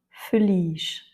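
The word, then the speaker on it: feliz: Et enfin feliche. Ici l'avant-dernière lettre est un i. Donc c'est lui qui a l'accent tonique.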